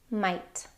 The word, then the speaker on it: might: There are lots of words that have this IGH pattern in them, and they all make a long I sound.